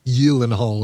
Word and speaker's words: Gyllenhaal: We And it's funny because she even said she pronounced it both ways in that interview. She said, "Well, Gyllenhaal, Gyllenhaal, but really you know it would be pronounced Yil-en-hall if you're if you're from Sweden, but there are or Scandinavia